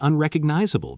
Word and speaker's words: unrecognizable: I went back last year, and it is completely unrecognizable because of all the new developments. Watch that pronunciation. Unrecognizable. 5 syllables.